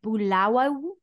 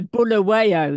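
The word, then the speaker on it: Bulawayo: have an extraordinary life story growing up in bulawa did I pronounce it correctly no not not too bad okay I think it's a bull awayo yes yes that's probably the uh in the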